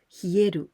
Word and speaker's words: 冷える: So in this case, we use the same kanji, but here we pronounce hieru or hiyasu.